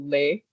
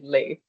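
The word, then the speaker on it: les: You can just simply say the word, say the article lei. Um that's like a life hack. you may have to spend more money, but then you don't have to be confused about if it is L or LA, you just say lei.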